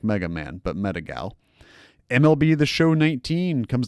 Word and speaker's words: Metagal: This is Metagal, Metagal, not like I met. Well, it's spelled like I met a gal, but Metagal as one word.